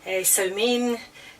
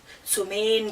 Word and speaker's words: Samhain: it's all Hallows Eve or Samhain, Somain, just depends how you pronounce it, whether you pronounce it Irish Gaelic, Scottish Gaelic, or even Manx Gaelic in fact.